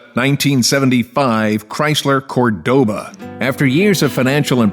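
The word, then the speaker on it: Córdoba: Named after a city in Spain that's pronounced Cordoba.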